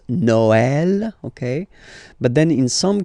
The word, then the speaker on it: Noël: that in some cases you will have to pronounce it like eh, okay, like for instance Noël, okay, but then in some cases as well it can be pronounced like e, okay.